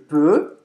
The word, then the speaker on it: peut: Il peut, que tem a mesma pronúncia, il peut parler français.